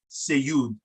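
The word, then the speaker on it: sayud: master as into master something spelled s-a-y-u-d we would say say you'd say you so the a-y is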